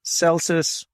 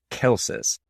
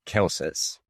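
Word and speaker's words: Celsus: is dawn early so last episode we continually pronounced celsius wrong it's actually pronounced kelsis it's spelled really really close to celsius so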